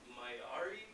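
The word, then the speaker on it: Māori: These are Maori, I think, is how that's pronounced.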